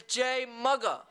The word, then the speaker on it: JMuga: You just been mugged, right? So it's Jay Mugga.